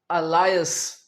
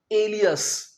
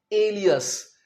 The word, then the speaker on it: alias: बहुत से स्टूडेंट्स इसे बोलते हैं अलायस, अलायस बोलते हैं, जो कि बिल्कुल गलत है। अलायस इसका प्रोनाउंसिएशन बिल्कुल गलत है। असल में इसका सही उच्चारण है एलियस। जी हां, एलियस।